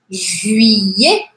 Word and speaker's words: juillet: Juillet. Juillet. Sabe o yeah, yeah, yeah? Yeah, em inglês. É quase isso, aqui um pouquinho mais fechado. Juillet. Yeah. É como se fosse I, E. Juillet.